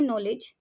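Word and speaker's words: knowledge: अब जो नॉलेज है उसकी स्पेलिंग होती है के एन ओ डब्लू एल ई डी जी ई लेकिन जो के होता है वो साइलेंट होता है तो उसको हम प्रोनाउंस कर रहे हैं नॉलेज एन से स्टार्ट कर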